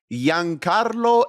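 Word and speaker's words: Giancarlo: nnest Alex who is Yan Carlo Esposito that is correct I don't hear him pronounce that G I thought it was Gian Carlo Ernest let's finish it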